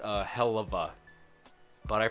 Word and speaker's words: Helluva: know why like helluva boss it's apparently it's pronounced uh hellava but I pronounce it heluva I don't know why I pronounce words some